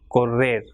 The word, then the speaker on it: correr: If two R's, that is doble R, comes together, it will pronounce as R. So, perro or correr.